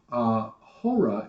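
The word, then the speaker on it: ὥρα: We have a U in our word for hour, and of course our H is silent, whereas they don't write an H, but they pronounce the H because of the breathing mark.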